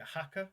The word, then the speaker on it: Haka: to butcher the name with any sort of pronunciation. Is it Haka?